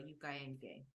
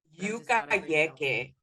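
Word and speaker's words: yucayeque: What's the meaning of a Yukayenge? I hope I'm pronouncing it right. Yukayeke.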